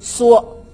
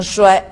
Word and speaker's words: 衰: 他说本节的衰字读缩，应该是什么呀？加草字头念成缩，不能念成衰，但是咱